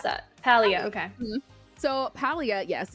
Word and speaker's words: Palia: It's called Palia? How do you pronounce that? Palia, okay.